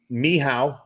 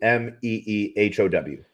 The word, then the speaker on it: Mehow: So you're speaking like Mehow, MEHOW. Yep. But someone's like they sound it out phonetically and they do MEEHOW.